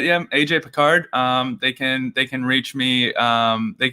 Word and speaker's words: Picard: but my Twitter account is pick a card, any card. It's kind of difficult, but it's that's cool. Yeah, PIC_ and then a card and then NE card. So it's kind of and Picard is spelled like Captain Picard, right?